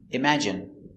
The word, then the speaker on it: imagine: Stress on the second syllable.